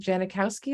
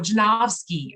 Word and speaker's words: Janovsky: that are you know I think is it Janikowski is that how you pronounce his name Timothy janikowski's oh janovsky yes yes and and yes it's called and